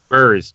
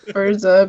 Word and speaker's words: Bûrz: B-U-R-Z. So Bûrz. Bûrz. There you go. It's called Bûrz. So you need to put it in chat. Just spell it out for us, Dave. I like Bûrz better, but Bûrz. Fine. It's Bûrz. We're gonna go with what. because the Z is pronounced on its own, Yeah.